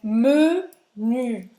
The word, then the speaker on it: menu: Não é menu, é menu, tá? Para falar o me, faz a boca do O e fala E, me.